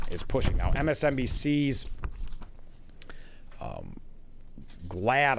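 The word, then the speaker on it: Glaude: Now, MSNBC's um Glad I believe is how you pronounce it.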